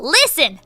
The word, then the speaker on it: listen: I'm like huh there are other silentes but I couldn't come up with any at the moment so like a week later cuz that's when I replay arguments in my mind a week later I was like thistle listen ha right Castle right right right right